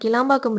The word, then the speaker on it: கிளாம்பாக்கம்: நான் வந்து தப்பா ப்ரொனவுன்ஸ் பண்ணி கேளம்பாக்கம் அதாவது கிளாம்பாக்கம் போறதுக்கு கேளம்பாக்கம் பஸ்ல ஏறி அதுக்கப்புறம்